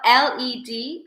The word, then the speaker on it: led: It's spelled L-E-D, and you would say led.